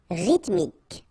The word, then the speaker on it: rythmique: Rythmique. Remember, Y pronounced like I and then H doesn't exist. Rythmique. Rythmique.